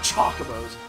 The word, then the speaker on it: Chocobo: fantasy 2 are chocolates they're not chocobos they're chocobos i know it's spelled choc like chocolate no goddamn it's chocobo wakka sayso hold your